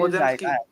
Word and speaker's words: Podziemski: I don't know how you pronounce that name, Brandon, whatever it is. Podziemski.